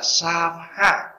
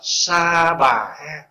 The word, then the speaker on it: Sa Ha: Cái chỗ, cái nguyên âm của tiếng Phạn là Sa Ha. Khi mà đọc là chữ H á, theo Sa, chữ V nó nhẹ đi, đọc là Sa Ha. Thì ngoài Bắc phiên âm là Sa Bà Ha, bởi mình âm cho nó rõ. Có chỗ âm là Ta Bà Ha.